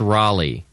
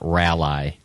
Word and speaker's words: Raleigh: and your FR Boise I have learned that it's Raleigh and not Ry North Carolina were you saying R